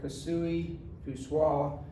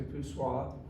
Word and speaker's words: Poiseuille: l that's buchua's law i've heard this pronounced with different ways by the way i've heard it pursue soil and various others i've stuck to poo soil excuse me again on